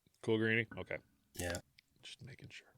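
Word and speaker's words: Coolgreany: it cool Greenie c-o-o-l-g-r-e-a-n-y I would say cool green yeah cool granny okay yeah just making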